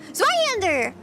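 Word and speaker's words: Zweihänder: Zweihander.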